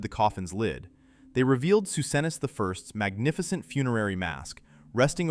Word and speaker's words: Psusennes: Inside one chamber, they found something astonishing: the sealed, undisturbed tomb of Pharaoh Susenes I, pronounced Susenes.